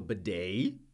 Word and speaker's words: bidet: if you have a bidet even better b-i-d-e-t this is a French word we keep the pronunciation the same in English as in French so the E.T we